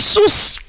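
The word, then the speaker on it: שוש: Il faut prononcer la consonne à la fin.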